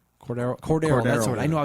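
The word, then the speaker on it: Cordarrelle: They've got Greg Jennings, Cordell Patterson, and Cordell. I think that's how you say his name. Cordero.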